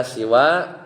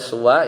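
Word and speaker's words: سِوَى: Kadang si siwa itu dibaca siwa dengan kasrah sinnya seperti ridon siwa ridon sama ya wazannya. Wasuwan kadang juga dibaca sua yaitu dengan bidamisin yaitu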